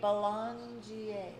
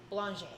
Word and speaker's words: Belanger: how to say it imagine you're a blonde with a j on the end state real fast blanche oh my god that